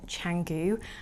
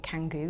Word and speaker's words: Canggu: week in Bali in Canggu. I'm pretty sure I spent all of last week calling it Canggu, like a kangaroo, and I've now learned it's not pronounced like that.